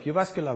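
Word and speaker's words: Jyväskylä: So I come from the city of Jyvaskyla, which was perfectly pronounced.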